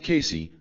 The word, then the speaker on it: Cayce: discussed in part three Casey pronounced Casey had The Uncanny ability